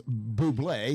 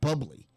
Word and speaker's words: Bublé: Because his name's Bublé. Right. Well, he was at some place, and they actually pronounced his name Bubbly. Right. Michael Bubbly. At least they didn't say booby.